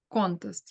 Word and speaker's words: contest: Where do we put the stress? Which part of the word? Contest. Contest, yes, right. The first like syllables should be stressed.